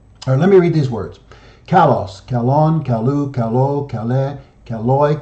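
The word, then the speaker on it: καλός: this adjective means fine beautiful good and is pronounced Kalos Kalos it means fine beautiful and good you've got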